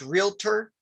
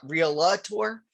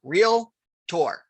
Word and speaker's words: realtor: pronounce it correctly so real tour. So real Arielle to our tour. That's it, two syllables.